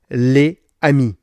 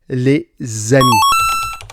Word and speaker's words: les amis: Exemple, les amis sans liaison. Ça sonne très étrange. Il faut dire les amis avec le S qui devient un Z.